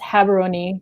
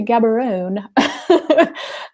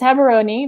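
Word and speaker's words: Gaborone: so it's it's pronounced haberoni because the g is is like a h um and in the airport they always say oh you're going to gabaroon but yes it's haberoni that's the capital um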